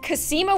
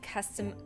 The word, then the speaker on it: Cosima: predominantly white town where for some reason Cosima was the hardest name in the world for them to pronounce they were like Oh custom custom charisma my hungover food teacher was like charisma and everybody laughed at